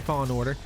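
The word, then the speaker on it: Fallen Order: story fantastic game overall star wars fall falling jedi order said it wrong there star wars jedi fall in order there's what i'm saying where i always said it wrong uh fantastic game from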